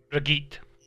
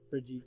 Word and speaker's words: Brigitte: Oh, so you've been messing with Bridget, or however you pronounce it. Brigitte. Brigitte, yeah.